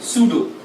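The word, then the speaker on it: pseudo: झूठा सॉलिड यानी सूडो, P silent सूडो solid.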